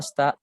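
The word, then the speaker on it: あした: Asta ya, bukan aste. Jadi si-nya ini dibaca SH aja, gitu. Asta gitu. I-nya itu samar. Huruf I-nya itu biasanya samar, enggak terlalu diucapkan. Jadi asta gitu, bukan asta.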